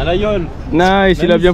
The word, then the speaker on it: Laguiole: À la Yole. Nice, il a bien prononcé.